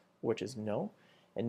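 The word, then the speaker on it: non: So the response is we which is yes, no, which is no. And make sure you add the the very faint N sound at the end. So it's not no like we have in English, it's no.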